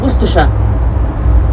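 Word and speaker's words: Worcestershire: Um the two will be entering are Oxfordshire and Gstersha but uh it also passes through uh Somerset, Wiltshire, Warikshire and Worersha which is not pronounced Satire.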